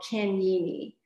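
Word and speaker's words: Kanyini: And he taught me of a concept, a word he called Kenyini, and you spell that K-A-N-Y-I-N-I.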